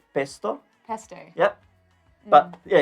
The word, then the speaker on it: pesto: right yep so yeah we pronounce a bit different pesto pesto yup but yeah it's